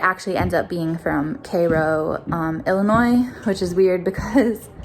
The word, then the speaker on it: Cairo: So you would expect this town to be pronounced Cairo, and it's Cairo.